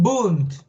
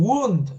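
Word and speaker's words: Wundt: este nombre virgen bunt no se pronuncia wilhelm wund No porque no es inglés es alemán y las palabras escritas en alemán cuando tienen W se leen como B como u pues no es bhem buun este psicólogo en el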